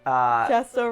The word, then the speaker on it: Chesto: I was going to say it's very easy to remember what Chesto does because it rhymes with resto.